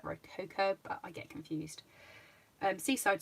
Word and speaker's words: Rococo: one laugh at me, Rocio Rose, which I know that's not how you say it, it's like Rococo, but I get confused.